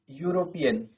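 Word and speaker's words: European: Next है हमारा वी मेट यूरोपियन। ठीक है? अब आपने ध्यान देना है साउंड पे। यूरोपियन। स्टार्ट तो इ से है बट साउंड हमारा क्या है? य का आ रहा है।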